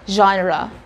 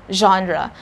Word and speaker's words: genre: english language learners because when we pronounce this word we kind of shop all the letters we say genre again genre the letter g there is not sound is g but genre this is coming from yiddish language some